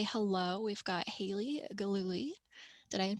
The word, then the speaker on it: Gillooly: but just to say hello we've got haley glooly did i pronounce that right indeed you did awesome calling